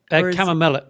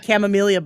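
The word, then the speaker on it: Chamomilla: Um and and the cham the cam am I saying it right when I say chamomia? Chamella. Chamla. Chamla. I always my husband I always get chameleia but it's chamella.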